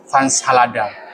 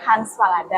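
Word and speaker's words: Hans Fallada: Ingin bilang bahwa saya mengenal dia ini dari buku Fans Halada. Hans Falada.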